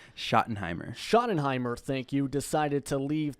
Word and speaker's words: Schottenheimer: Rams offensive coordinator Brian I'm going to probably mispronounce this Ron scrutin Hammer Schottenheimer Schottenheimer thank you decided to leave the team to